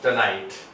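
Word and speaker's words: tonight: नाई, यहाँ पे जीएस का कोई रोल नहीं है, साइलेंट है, और टे का टी, ये हो जाएगा हमारा टनाइट।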